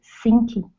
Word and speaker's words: sinking: I had been in a place where I didn't realize I started sinking into depression. Okay, very good. All right, let's go to, first up, the ing sound. So it's sinking. Sinking.